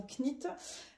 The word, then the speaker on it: Knit: à m'avoir dit oui, on ne prononce pas le K dans Knit. Je le sais, je sais juste que j'y arrive pas, mais je le sais. Je le sais que c'est pas Knitting for a Living, mais Knitting for a Living et petite Knit, mais voilà, j'ai du mal. Je vais essayer, mais voilà, je sais pas. Ce K est là et je ne comprends pas pourquoi il n'est pas prononcé.